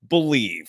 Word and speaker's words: BLEAV: Use the promo code BELIEVE. That's spelled BLEAV for your 50% free bet credit on your first deposit up to $250.